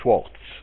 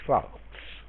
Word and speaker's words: Schwarz: captain and I while you pronounce uh the name Schwarz in in US a uh Ron is actually Schwarz that's how it's pronounced in pronounced in in Israel well the person who